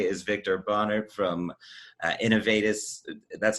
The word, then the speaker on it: Innovatis: joining us today is victor bonner from uh innovatus that's how you say it right that's right